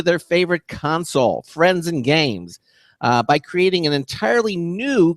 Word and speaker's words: GAEMS: known as games g-a-e-m-s it's pronounced games even though they reversed the uh you're not dyslexic